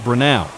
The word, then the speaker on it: Brenau: For the record, it's pronounced Brenau, and they're the ones leaving their opponents in